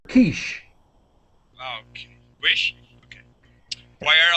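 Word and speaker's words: quiche: head is aish kishish it's it's a French word Kish okay wish okay why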